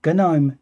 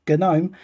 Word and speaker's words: GNOME: click on about it's the gnome or gnome terminal which i've now been told is the way i should pronounce uh this it's gnome terminal and it's version 3.440